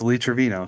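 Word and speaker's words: Lee Trevino: the end of this trino all right it's Lee Travino sorry guys I just like the fact that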